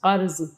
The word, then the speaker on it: قرض: کچھ روپیہ قرض مانگا۔ اب دیکھیے قرض کا تلفظ، قرض، مگر سب نے ٹکا سا جواب دے دیا۔